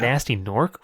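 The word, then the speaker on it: Gnasty Gnorc: But Nasty Nork, ooh, it's got a stink to it. I love that it's spelled with a G. Yeah, both Nasty and Nork are spelled with G's. Silent Oh my G's.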